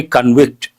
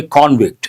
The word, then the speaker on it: convict: will be convicted and convict can be a verb can be a noun as a verb we say convict as a noun we say convict he is a convict spelling is the same but pronunciation changes coming to the next snippet